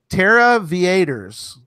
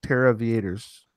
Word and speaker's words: Terra Viators: Terra Viators, not Terra Viators or anything else. It's Terra Viators. I think it's like aviators, but they're cachers, so they're doing Terra, so it's Terra Viators.